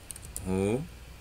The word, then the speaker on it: ruim: Ruim. O in é mais forte.